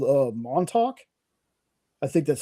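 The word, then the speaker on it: Montauk: it was actually going to be called uh Montalk. I think that's how you pronounce that. I I can never remember. It's a It's a Monttok. Is that what it's called? Montalk.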